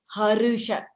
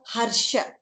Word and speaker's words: हर्षम्: Ra followed by Sha, you have to say Ra fully, Harusha, not Harsha. Okay. I hope I'm like the difference is clear. It's not Harsha, Harusha. Varusha. Varusha, like we say Varusha, no? That's the correct pronunciation.